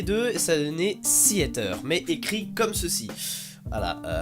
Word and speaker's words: Seaiter: Donc vous devez savoir un petit truc, le début de mon pseudo, les deux lettres se prononcent comme en anglais et le reste en français. C'est pas Seater, c'est pas Siaté, c'est pas Seater, non, c'est Seater.